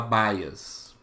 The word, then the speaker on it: bias: na em inglês né se escreve assim né bias e se fala baias baias um viés de amostragem